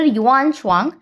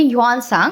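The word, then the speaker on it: Xuanzang: Chinese traveller युवान स्वांग या फिर आप इन्हें बोल लीजिए युवान सांग। तो यहां पे साइलेंट है।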